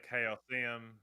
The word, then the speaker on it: Chaosium: people say Chaosium.